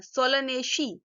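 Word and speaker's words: Solanaceae: तो CEAE इसको हम शी बोलते हैं, सोलनेशी, ठीक है।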